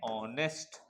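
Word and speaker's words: honest: ईमानदार को कहते हैं ऑनेस्ट ठीक है एच साइलेंट होता है है ना एच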